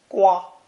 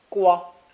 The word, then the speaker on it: 刮: When the knife radical is added, it's pronounced first tone, gua, gua, and means to scrape or shave.